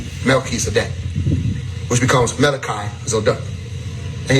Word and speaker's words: Melchizedek: In the story, the messenger of righteousness is Melchizedek, or Melchizedek, as some people pronounce. It's really Melchizedek. Melchizedek, which becomes Malachi Zodek.